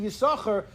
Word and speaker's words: Yissachar: Anyhow, so Reb Zalman Henna says, you know why it has to be Yissachar? Because you can't pronounce the second shin.